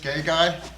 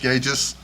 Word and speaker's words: Gages: In the 3rd grade, the teacher called out Gay Guy, And if you now kids are in the third grade, that stuck with me till a reunion decades later. But it is pronounced Gages. Gages.